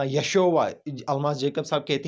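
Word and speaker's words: ישו: यशोवा नाम नहीं था, यशोवा नहीं है, ये प्रोनाउंसिएशन ठीक नहीं है, यशोवा, this is not correct pronunciation, ये उनके नाम का सही प्रोनाउंसिएशन नहीं है। यशु है, या शीन वाव आइन, यशु, यसू मसीह अलैहिस्सलाम का इब्रानी नाम।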